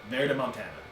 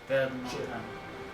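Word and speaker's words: Verdemontaña: Verdemontana. That's how you would say that. Verdemontana.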